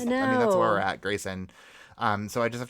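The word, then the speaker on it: Gracyn: that's my main type of deal and it's Grayson on air my name is spelled pretty weird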